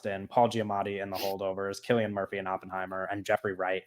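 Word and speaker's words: Cillian Murphy: silly people yeah uh yeah I think that selan Murphy is like he's gonna win I hate when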